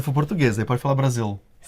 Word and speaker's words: Brasil: Agora nesses exemplos, você vai ver que o L está em final de sílabas. O nome do nosso país, Brasil.